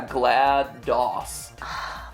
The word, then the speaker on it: GLaDOS: am there for you GLaDOS or GLaDOS as everyone sometimes corre me really some people say it's GL yeah glad dos like dos as an MS DOS I I like GLaDOS